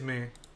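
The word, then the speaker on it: Mie: shot me it is me me scattering incredible me scattering okay so my scattering true but apparently it's me scattering which pretty sure y'all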